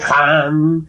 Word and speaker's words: Ham: Ham escribe con las letras H-A-M. Saj se escribe con las letras S-A-H. La H suena siempre como J.